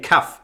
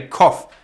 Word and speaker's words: cough: And the commutator is saying FYI, cuff pronounced like cough. Stop saying cuff, it's irritating. Say cough, like you're supposed to. Cuff is the white part around your wrist on your fancy suit. Not that fancy suit. But yeah, thanks the commutator for explaining that. So it's cough. It's true. Cough medicine. Cough button. It reads like cuff.